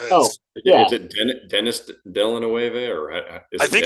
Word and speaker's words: Denis Villeneuve: It's pronounced Denis Villeneuve. The last That is name I've heard a okay. lot, but his first name is pronounced Denny.